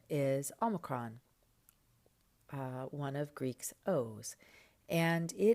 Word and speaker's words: omicron: So Omicron is going to be aw as in bought.